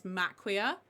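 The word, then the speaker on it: Maquia: Um one I don't hear people talk about in terms of anime films is Mquia. Um which is so beautiful. M A Q UI A I think it's spelled.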